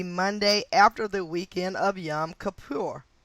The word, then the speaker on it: Yom Kippur: attack came the Monday after the weekend of Yom Kippur. Yom Kippur, and that's spelled Kippur. Yomkippur.